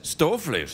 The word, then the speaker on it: stoofvlees: You know, you didn't say it properly. You got to say it like this. Stouffle's.